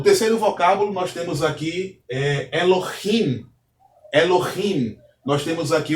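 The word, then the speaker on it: אלהים: Então, a expressão aqui, ou a pronúncia deste vocábulo é Elohim, não é Elohim, é Elohim, pois o Re tem um som de um H levemente aspirado. E o quarto vocábulo, nós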